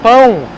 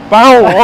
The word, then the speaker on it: pão: You can use this same strategy for the pão. Bow. Okay. There we go. So it's a downward motion. So, it's bow.